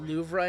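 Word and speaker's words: Louvre: The louver is pronounced loura in French with a soft throat gargled R.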